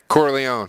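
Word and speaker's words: Corleone: out of him, you know, like Sunny Coroni or whatever the hell his name is there. How the hell you say his name? Corleó.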